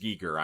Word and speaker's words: Giger: So it's actually pronounced Giger.